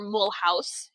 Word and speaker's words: Mulhouse: It's halfway between Strasbourg and Mulhouse, or Mulhouse, if you use the German translation or pronunciation, and a little bit from Colmar.